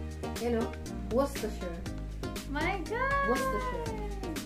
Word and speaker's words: Worcestershire: Worcestershire. Walang ano, walang R. Worcestershire. Worcestershire. First syllable stress.